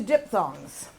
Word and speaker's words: diphthongs: But it is pronounced dip with a P. That PH sounds like a P, and thongs.